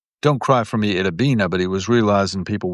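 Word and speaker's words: Itta Bena: don't cry for me Idabbina but he was realizing people wouldn't realize that it rhymes with Argentina because it's i t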